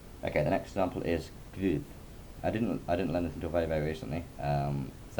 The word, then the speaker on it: Guð: The word Guð, which means God, should actually really be pronounced with a V. So just imagine it's pronounced with a V. Guð, like Guðmundsson is a common surname, the son of Guðmundur.